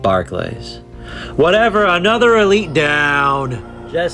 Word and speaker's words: Barclays: I think it's actually pronounced Barclays instead of Barclays.